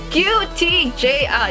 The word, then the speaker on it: Cutiejea: pronounce it so basically it's pronounced as this QT j i it's basically like three letters in a sound quoted by EV Iger